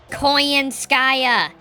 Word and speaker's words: Koyanskaya: call her conan skaia he keeps getting her name wrong what a strange question do it do we appear to be treating this as a game do you con nanskaya it's koyanskaya if you truly see